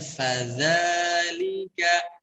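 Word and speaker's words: فَذَلِكَ: Begitupun di ayat kedua, fadha, sebelum diucapkan vokal a-nya, fa-nya tekan dulu. Fadha, dzal pun sama. Jadi sebelum diucapkan a-nya, tekan dulu dzalnya. Fadzalika.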